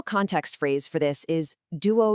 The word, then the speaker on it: duo: The answer is duo, spelled D-U-O. Let's practice this to get the pronunciation absolutely perfect.